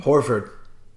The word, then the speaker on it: Horford: Horford.